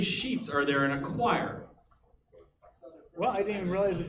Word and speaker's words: quire: I was like oh it's like Squire without yes yeah but yeah it's spelled completely different very good yeah all